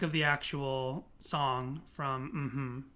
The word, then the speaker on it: Mmhmm: because they're going mm-hmm so that's how you pronounce it it's actually mm-hmm that's how we should say it for now